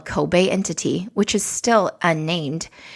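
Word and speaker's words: Koubei: that's spelled e-l-e-m-e and alibaba's new retail subsidiary kobe that's spelled k-o-u-b-e-i if you'll remember alibaba had completed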